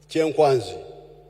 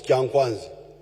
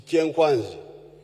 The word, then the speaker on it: Kyenkwanzi: When you hear this Kyenkwanzi, which the Baganda mispronounce as Kyankwanzi, it is Kyenkwanzi.